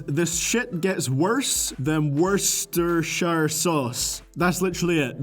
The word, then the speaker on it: Worcestershire: shit gets worse than Worcestershire sauce. That's literally it. The joke is that the first syllable in Worcestershire sauce sounds like the word worst.